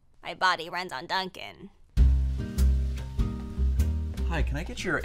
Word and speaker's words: Dunkin': Yeah, and it's actually pronounced Dunkin'. That's what I'm saying, Dunkin'. Well, there's actually no G at the end. It's Dunkin'. Dunkin'. Dunkin'. Dunking.